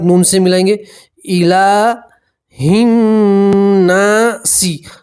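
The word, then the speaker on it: النّاس: ملائیں گے، الہ الناسی، اب سین کے نیچے زیر ہے تو زیر کو ہٹا دیں گے اور سین کے اوپر کیا پڑھیں گے؟ جزم، تلفظ بنے گا ناس، کیا پڑھیں گے؟ ناس، اور نون کے اوپر تشدید ہے، نون میں گنہ کریں گے، الہ الناس، الہ الناس۔ اب ترجمہ دیکھیے۔ قل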